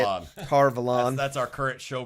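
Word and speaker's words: Tar Valon: that Egwene and Perrin, finally make it to Tarvalon or what, however you say it, Tarvalon. That's our current show pronunciation.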